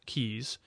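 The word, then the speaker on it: Caius: better known by the latinized form kaas which retains nevertheless the pronunciation derived from the English original keys was born at Norwich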